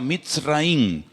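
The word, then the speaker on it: מצרים: país de Egipto, que en la Biblia se pronuncia mitraín.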